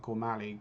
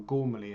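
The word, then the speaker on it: Gormally: After not pushing a porn for 30 years the writing Twitter feeds and broadcasters of folks like Gormali got me interested again or Gormaly as it's pronounced correctly during the pandemic.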